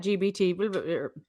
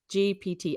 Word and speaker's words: GPT: the classroom that, oh, chat GBT, GPT, I keep saying it wrong.